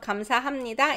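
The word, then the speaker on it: 감사합니다: name basically all right the pronunciation of kamsahamnida is comes it's hard to say right because there's new sound that's nasal pu underneath becomes nasal so comes that's why it's nasalization all right european i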